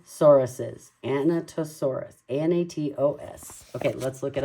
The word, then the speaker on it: Anatosaurus: oh here we go anatosaurus anatosaurus so we have to pretend like we're talking about a Nat you know what a